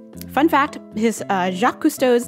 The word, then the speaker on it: Cousteau: a jock villager and i pronounce it cousteau so he's named after a famous french oceanographer and filmmaker jacques cousteau and